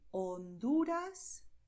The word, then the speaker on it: Honduras: In Spanish, the letter H is silent, so you write it, but you do not pronounce it. You say Honduras, Bahia.